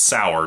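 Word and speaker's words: Saur: name is mr sauer i thought it was sayer because it's spelled s-a-u-r but they keep calling him sour ball so i assume it's sour just a weird way of spelling it kind of like sauerkraut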